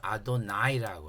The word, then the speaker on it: 아도나이: 하나님을 얘기할 땐 복수를 써서 아도나이라고 하고요. 사람할 땐 아도니를 써요. 인간 주인이나 높은 사람할 때 아도니로 발음을 하고요. 그런데 천지의 주지이신 하나님한테는 아도나이라고 발음을 해요. 원래 히브리어 성경에는요요 자에 요렇게 요렇게 여기 모음자가 붙어서 구별할 수 있는데이이 모음자가 없으면은요 자만으로는 구별이 안 돼요. 근데 그들은 아도니와 아도나이로 읽죠.